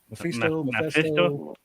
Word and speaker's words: Mephisto: Am I pronouncing that right? Mephisto.